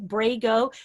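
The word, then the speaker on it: Braigo: you look it up it's spelled b-r-a-i-g-o brego it's kind of braille in lego but he's working on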